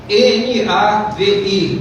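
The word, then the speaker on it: נביא: para profeta é Nabi se escreve Nabi mas se pronuncia na v i na Via né Nós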